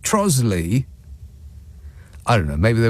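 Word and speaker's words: Trottiscliffe: trotus Cliff No pronounced trosly what trosley so that's more than half of the letters in there that are silent that's just absolutely ridiculous trois Cliff is pronounced trosley I don't know maybe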